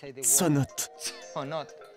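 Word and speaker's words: ts'onot: victor arroyo connaît bien le mot ses notes fut inventée par les mayas et les espagnols sonatt et la vraie prononciation maya à leur arrivée les espagnols chercher de l'eau les mayas leur disait tout le temps sa note que les espagnols ont changé on ces notes parce qu'il n'arrivait pas à le prononcer ça signifie puits souterrains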